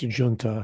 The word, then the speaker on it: junta: And that's why I talk about the corporatist junta, Junta. I know in Britain it's pronounced junta, I think, but here in the Western Hemisphere, we were taught to pronounce it junta, give it the Spanish pronunciation.